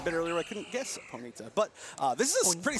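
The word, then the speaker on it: Ponyta: Going on a quick tangent here, I pronounce it Ponita.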